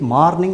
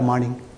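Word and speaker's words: morning: இதை வரலாம் சரியா பாருங்க எம் ஓ ஆர் என் ஐ என் ஜி இஸ் இட் மார்னிங் ஆர் மார்னிங் நல்லா கவனம் பண்ணி சொல்லுங்க மார்னிங்கா இல்லையே மார்னிங் இதே ப்ரொசீஜர் எல்லாத்துக்கும் ஃபாலோ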